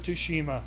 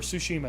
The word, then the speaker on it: Tsushima: Look at Ghost of Tsushima or Tsushima, excuse me. I keep pronouncing that damn game wrong.